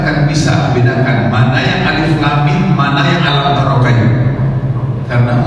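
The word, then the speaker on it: الم: Dibacanya itu Alama. Pernah dengar ya? Enggak jelas. Ini bukan Quran asli. Saya tersenyum. Ya, istilahnya bahagia bahagia bukan cuma udah. Karena segini Alama. Apa tadi? Alif, lam, mim.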